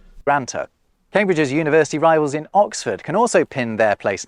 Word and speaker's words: Oxford: ox and they are conjuncted that he says Oxford notice that next time you hear him it's